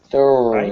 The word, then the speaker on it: thorn: thorn, Right? Better. Thorn, thorn, thorn, thorn, thorn. It's one syllable.